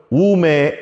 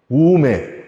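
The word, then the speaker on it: οὐ μή: 다른 것으로는 결단고 천국에 갈 수 없느니라.이 헬라오로는 우메, 에이셀세테, 에이스텐, 바실레이안톤, 우라논 이렇게 발음을 해요. 근데 중요한게 앞에 우메예요. 우매 워매 이거 아니에요. 예. 우메.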